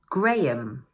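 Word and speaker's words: Graham: Number two is pronounced: gray-um.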